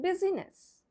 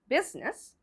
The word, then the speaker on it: business: We'll pronounce it busyness. That's absolutely wrong. So how do we pronounce this word? It's the I is silent. So that's the silent letter of the word business.